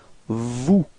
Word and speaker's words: vous: Same thing. Final S is not pronounced. So vous.